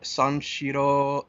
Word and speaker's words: Sanshiro: How do you spell that? Do you know? Sure. Yeah. S-A-N. S-H-I-R-O.